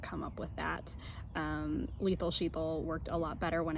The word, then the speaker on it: Shital: might be used to sheeple rhymes with lethal so that's a good way to remember it and I promise I did not come up with that lethal sheeple worked a lot better